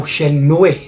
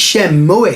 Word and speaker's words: Shenmue: and Jess so are there talking about how Shenmue is pronounced and they were saying a shell mill